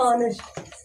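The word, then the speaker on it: honest: तो अगर हम लिखेंगे हॉनेस्ट को, अगर हम प्रोनाउंसिएट करेंगे तो होगा ऑनेस्ट।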